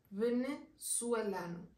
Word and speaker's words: venezuelano: Ahora, el gentilicio de Venezuela sí suena bastante distinto, que sería, en vez de venezolano, venezuelano. Venezuelano.